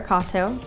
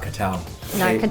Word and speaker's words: Katow: guess my Instagram it's my name's kata not k'tau tower even though it's spelled no I'm I'm a podcast